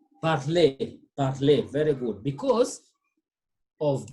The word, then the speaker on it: parler: RE is the same as A with acute accent, okay? And it's the same as ER, pronounced as A, and the same as ET, and the same as EZ. As simple as that, all